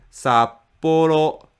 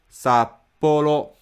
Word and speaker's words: Sapporo: is flat Tokyo Tokyo Sapporo is flat sap Polo sap Polo these are the basic